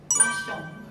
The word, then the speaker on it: La Chomb: 라숑브는 더 룸이라는 프랑스의 라샹브르에서 따온 말인데요. 그 약간 영어식 표현으로 쓴 말인데 사실 스펠링은 LA 라 CHAMBRE 라샹브르 이런 느낌인데 拉胸脯这个词的话，它是来自于法语，这个法语怎么读呢？我来问一下。프랑스어 어떻게 읽어요? 라숑.